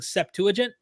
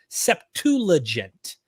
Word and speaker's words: Septuagint: when you go back i was literally pronouncing septuagint septulagent i didn't even know the l was silent i'm learning i'm just